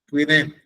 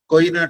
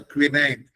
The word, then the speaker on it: quinine: In the local language, they used to call it as koina tablet. It is the person, my grandmother, other people, they can't pronounce the quinine. They used to call it as koina tablets.